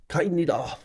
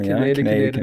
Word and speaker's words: Kaineder: I guess if you look at the origin of a word and it's from Austria. Austrian. So I guess you'd say it like Kaineder. Kaineder. But with the Aussie thing, it's just Kaineder.